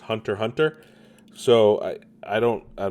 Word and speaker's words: Hunter x Hunter: say the X right like I know in anime like Hunter x Hunter is actually just Hunter Hunter so I I don't